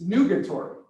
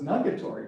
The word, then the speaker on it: nugatory: he used this word it's nugetory and it's spelled n-u-g-a-t-o-r-y and when i first researched that i thought it said i thought it was nuggetory because i didn't know